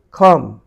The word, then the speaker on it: comb: COMB, come, come, come, come.